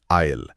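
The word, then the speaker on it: aisle: आईल spelling है ए आई एस एल ई। यह एक नाउन यानी संज्ञा है। और उच्चारण है आईल। बिल्कुल। जैसा आपने कहा एस का उच्चारण नहीं होता।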